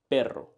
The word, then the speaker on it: perro: Perro.